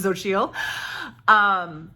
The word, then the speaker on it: Xochitl: And thanks to Mariandra for telling me how to pronounce it, Xochitl.